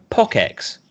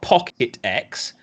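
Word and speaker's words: PockeX: name people can pronounce also POC X right it is not Pocket X it is not the pocket and aspire sorry but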